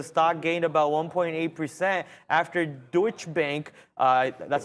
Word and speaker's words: Deutsche Bank: What I remember reading about it is the stock gained about 1.8% after Deutsche Bank, that's how you say it, hopefully, Deutsche Bank upgraded the stock to buy rating, citing revision to estimates following strong quarterly results.